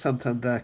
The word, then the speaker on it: Santander: I pronounce Santandere correctly because there's a bank in Britain called a Santandere Spanish obviously.